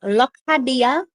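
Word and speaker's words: Locadia: His name is pronounced Lokhadia.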